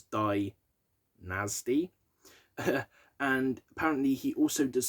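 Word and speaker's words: Dynazty: vocalist for band called dynasty but it's spelt with a zed so it's dai nasty and apparently he also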